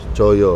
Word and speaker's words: Coyo: Jadi Coyo itu dulu ejanya TJ. TJ TJO YO. YO, Coyo.